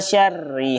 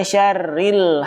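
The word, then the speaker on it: شَرِّ: Syarrinya tidak dibaca panjang pada huruf ri atau tidak disisipi dengan huruf lam. Contoh kesalahan yang salah adalah wa min syarri hasidin. Harusnya wa min syarri hasidin, atau membacanya dengan disisipin huruf lam.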